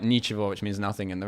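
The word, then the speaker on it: ничего: which is like because the G in Russian and it's in the middle of the word, it's like pronounced soft like a V.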